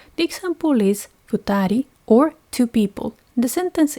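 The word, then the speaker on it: 二: The reading is futa. The example is futari or two people.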